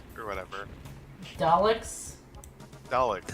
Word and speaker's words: Daleks: I meant to mention this earlier, but is it just me or do the robots remind you of dialects or whatever? Daleks? Daleks. That's how to Daleks?